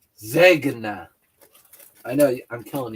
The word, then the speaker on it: Zegna: You're missing the G. You got to pronounce it with a hard G. Zeg. Zegna.